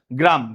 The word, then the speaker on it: গ্রাম: সাথে উচ্চারণ করে লক্ষ এই আকারটা হলো র এর সাথে গ এর সাথে না মূলত এখানে হল এরকম